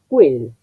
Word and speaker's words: quel: Esa letra Q que veo en italiano se traduce fonéticamente con el signo K. Ahora viene una vocal que forma parte de un diptongo, quel, porque quel es un monosílabo.